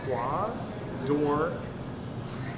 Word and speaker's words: Croix d'Or: This is the Croix d'Or, so it's pronounced Croix d'Or.